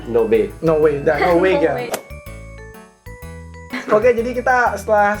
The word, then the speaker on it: Норвегия: Это Норвегия. Норвегия. В. Норвегия. Да, вы Норвегия. используете в, да. У нас используем в.